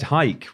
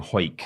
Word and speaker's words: Hike: It's from Ed Hike. We now have a pronunciation. We do. Thank you, Ed. I've been saying Hoik. For ages. Thank you, Ed, for giving us the pronunciation of your surname.